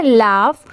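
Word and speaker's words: laugh: ई वेक ये है लाफ एल ए यू जी एच इसे हम क्या प्रोनाउंस करेंगे लाफ ये है क्राई सी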